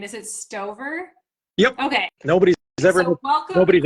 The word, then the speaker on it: Stover: Is it Stove? Yep. Okay. Nobody's ever Nobody's ever mispronounced.